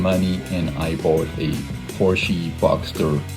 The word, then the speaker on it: Porsche: And by the way, since I'm from Germany, it's actually not pronounced Porsche. Never pronounce a Porsche Porsche. You can call it Porsche if you want to, but honestly it's a Porsche. And I repeat, it's Porsche.